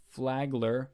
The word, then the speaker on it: Flagler: It looks like Flagger, but it says Flagler.